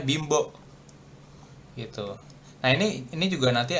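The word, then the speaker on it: 貧乏: Nah, ini kalau bimbo kan ini aslinya bin nih. Binbo. Tapi bacanya bimbo.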